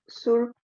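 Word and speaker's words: Սուրբ: Surp, surp, surp, ter zorutians. So you hear that surp, there's really not much p at the end of the word there.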